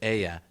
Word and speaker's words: ella: at the end of aya telling you that you're dealing with a feminine word remember to pronounce the double l like a y we're not dealing with ella fitzgerald here aya is the third